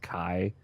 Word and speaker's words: Chi: It is a Greek X, and it's also sometimes pronounced Kai.